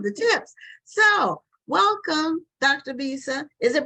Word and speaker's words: Bisa: and I think it's pronounced Bisa, like Lisa, because Yes. it's spelled like Lisa with the B. But if it's not, then we'll find out. But her name is Dr. Bisa Batten Lewis, and she